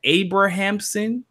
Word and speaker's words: Abrahamson: I want to make sure I'm pronouncing this right. Abrahamson. Exactly, yes.